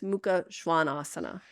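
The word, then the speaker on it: Mukha Svanasana: short a which is Ado and then it's Muka Schwan Asana I know I picked that one specially for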